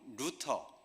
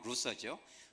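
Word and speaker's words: Luther: 그래서 아버지는 마틴 루터, 독일어 발음 루터지만 영어 루서죠.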